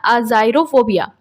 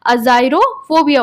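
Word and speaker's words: agyrophobia: तो ये इसको हम बोलते हैं अज़ाइरोफ़ोबिया। क्या बोलते हैं? अज़ाइरोफ़ोबिया बोलते हैं। अज़ाइरोफ़ोबिया इसका प्रोनाउंसिएशन है।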